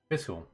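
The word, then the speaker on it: Fischl: Fiscal.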